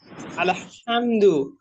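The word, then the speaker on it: الحمد: আইন জবর আইন আইন জবর আইন জবর আলহামদু হামদু হয়ে যাচ্ছে আলহামদু এটা হামদু না আলহামদু আবার পড়েন দেখি আলহামদু আবার পড়েন আলহামদুলিল্লাহ আলহামদুলিল্লাহি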